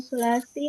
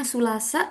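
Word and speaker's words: الثلاثاء: isnani, hari Senin, wayamul sulasi, hari Selasa, wayamul arba'i, hari Rabu. Iya bagus. Nah siapa Kak Dina? Nanti bacanya Sulasa sama Arbi'a ya. Biar nanti nggak keseleo lagi bacanya.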